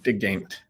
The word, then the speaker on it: DeGeyndt: last name is pronounced digging all right it's a Belgian name I was born in Belgium so it's a Dutch Flemish name welcome welcome your title